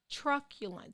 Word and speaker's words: truculent: day is truculent okay truculent spelled t t-r-u-c-u-l-e-n-t pronounce truck yeah lunt okay it means it's